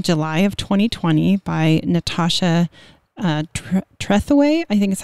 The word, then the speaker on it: Trethewey: This came out in July of 2020 by Natasha Trethewey, I think is how it's pronounced, mm-hmm, Trethewey.